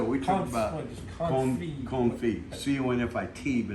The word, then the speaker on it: confit: talked about corn feet c-o-n-f-i-t but it's pronounced comfy okay so anyway confit